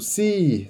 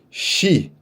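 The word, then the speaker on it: 시: Mas não é. Você vai ler como se fosse shi. Ah, por que é como se fosse shi? Não sei, pronúncia, galera. A galera fala assim, eles juram por Deus que estão falando si, mas quando vocês perceberem, vocês vão ver que é shi, tá bom? Então a pronúncia é shi, nesse caso.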